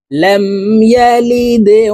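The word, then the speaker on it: يلد: কলকলার হরফ নিচের দিকে ধাবিত করে ধাক্কা দিয়ে উচ্চারণ করব লাম ইয়ালিদে ওয়ালাম ইউলাদে ওয়ালাম ইউলাদ লাম ইয়ালিদ ওয়ালাম ইউলাদ লাম ইয়ালিদ ওয়ালাম ইউলাদ ওয়ালাম ইয়াকুল্লাহু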